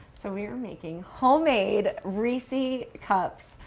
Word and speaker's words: Reese's: classic candy option so we are making homemade reesei cups how do you say Reese I say reesei but most people say Reese's Reese's Reese's yeah agreed Reese's Peanut Butter Cups